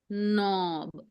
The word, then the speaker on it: knob: you call it Knob so that has this silent m silent is silent very easy o and sorry I'll take another color no and B so mark your sounds N O and B knob don't say knob it's knob okay all right now